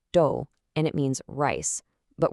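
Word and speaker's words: 도: In Korean, this is pronounced do and it means rice.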